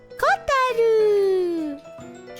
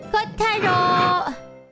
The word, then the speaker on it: Kotaro: It says Kotaro. You're saying the name wrong. Kotaro.